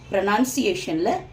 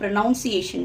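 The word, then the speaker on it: pronunciation: அது பொதுவாக நீங்கள் பார்த்தீங்கன்னா நிறைய பேர் வந்து ப்ரொனவுன்சியேஷன் அப்படின்னு சொல்லுவாங்க. அதை உச்சரிக்கிற விதம் வந்து ப்ரொனவுன்சியேஷன் அப்படின்னு இருக்கும். ப்ரொனவுன்சியேஷன், அது ப்ரொனவுன்சியேஷன் கிடையாது, ப்ரொனன்சியேஷன். இங்கே பார்த்தீங்கன்னா ப்ரொனன்சியேஷன்.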